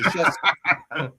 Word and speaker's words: Krzyzewski: It begins with a K. His last name should be Kruzewski. mm-hmm. But because his ancestors had to be assholes about it, they have to pronounce it Krzyzewski.